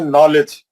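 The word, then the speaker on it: knowledge: आप पढ़े ना सब लोग इंग्लिश जैसा इंग्लिश में बोलते हैं नॉलेज। इंग्लिश में बोलते हैं नॉलेज कैसे लिखते हो लोग? नॉलेज ये के नहीं पढ़ते। के साइलेंट है ये ये के जो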